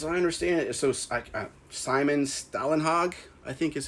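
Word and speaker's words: Stålenhag: The Electric State, as I understand it, so Simon Stalenhag, I think is how you pronounce it, would basically take realistic photos and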